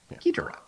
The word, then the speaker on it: Ghidorah: King Ghidorah. Right? Am I saying it right? Ghidorah? Ghidorah. Ghidorah.